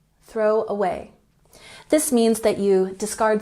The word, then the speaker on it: throw away: number 15 we have throw away we emphasize the second syllable in a way throw away throw away this means that you